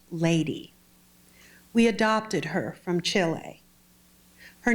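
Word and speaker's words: Ldy: our dead daughter's birthday her name was l d y pronounced lady we adopted her from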